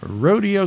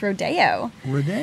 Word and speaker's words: rodeo: you tonight Mason Bothwell yes Miss Salinas California rodeo queen 2022. yes and she loves horses I do yes a fun fact about Salinas it's actually pronounced Rodeo yes not Rodeo Rodeo yeah we like to